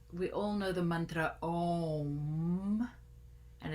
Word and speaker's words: Om: all know the Mantra om and it ends with a M so it's an a-u-m sound is how they say it but if you want